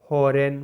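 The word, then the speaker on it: foreign: आपका जी साइलेंट है एफ ओ आर ई आई जी एन फॉरेन मतलब विदेशी होता है यहां भी जी साइलेंट है अब देख लेते हैं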